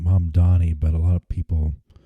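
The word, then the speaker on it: Mamdani: Um I think his I think he pronounces his name Mum Donnie, but a lot of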